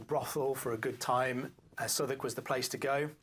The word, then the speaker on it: Southwark: He says like Southwark. Goodness gracious, I would have said Southwark or Southwark. Oh goodness gracious, what do I know? It's a bit like cupboard, right?